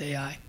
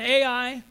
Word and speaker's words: Ai: Wail, O Heshbon, for Ai, I think that's pronounced Ai, has been destroyed.